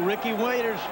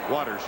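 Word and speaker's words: Watters: Oh, Ricky Waiters. Waters. Waters, that's what I said, Ricky Waters.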